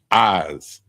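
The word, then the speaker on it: iz: The next one is goat and it's pronounced eyes like your eyes.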